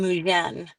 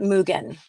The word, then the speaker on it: Mujen: infinite, and up came MUJEN. But actually, it was with a G first. Okay. So, but we shifted it to a J because they were pronouncing it Mugen, and I didn't like that.